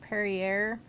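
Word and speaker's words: Perrier: like at the the I think it's pronounced pari air the tonic water or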